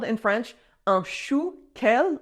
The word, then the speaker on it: chou kale: It is called in French un chou kale, like chou, cabbage, and then kale, kind of pronounced with a French accent, un chou kale, but